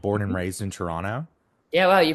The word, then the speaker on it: Toronto: like born and raised in Toronto. Yeah, wow, you pronounced it right.